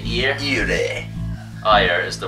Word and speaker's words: Ire: Ear. You say ear? Ire. Ire is the right pronunciation.